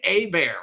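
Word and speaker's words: Hebert: announcers have been saying it wrong but Griffin a bear from Louisiana Tech he played receiver and then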